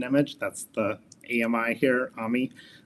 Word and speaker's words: AMI: AMI, it's how we pronounce it.